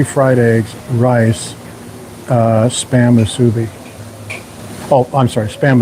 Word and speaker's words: musubi: 7 ounces of steak, 3 fried eggs, rice, spam musubi. Oh, I'm sorry, spam musubi is $3.85. Or as Diane likes to mispronounce it, musubi.